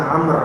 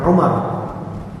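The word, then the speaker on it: عمرو: Amr Bin al-harit ini bacanya Amr ya Pak bukan Umar kalau nanti Antum melihat tulisan gundul ada Ain mim ro tanpa wau maka bacaannya gimana Umar atau Amr Umar tapi kalau ada Ain Mim ro kemudian wau bacanya Amr bukan bukan umaru bukan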